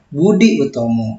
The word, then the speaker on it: Boedi Oetomo: Nah, ya, itu merupakan ejaan lama, bahwa huruf U dulu tulisannya adalah OE. Ya, Boedi Oetomo itu bacaannya adalah Budi Utomo.